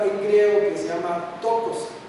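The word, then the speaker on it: πτωχός: La palabra que usan para la para describir al pobre aquí es una palabra en griego que se llama tocos. Tocos tiene una p antes la pronunciación que significa encorvarse, encogerse y que expresa una condición de un mendigo, alguien que ya está en destitución total.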